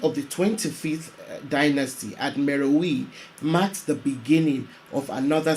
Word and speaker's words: Meroë: Meowi, also sometimes pronounced Meo.